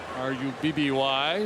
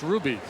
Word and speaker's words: Rubby: Ruby with two B's. R-U-B-B-Y. Looks like Rubby, pronounced Ruby.